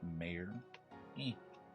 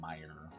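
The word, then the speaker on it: Mayer: to 35 there is mayor back here it's actually Meyer Marcelo Meyer which I don't like that I feel like it should be mayor the way it's spelled but it's whatever Hold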